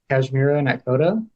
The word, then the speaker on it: Kashmira Nakhoda: Okay, so this week I am speaking with Kashmira Nakhoda. Did I pronounce that right as well?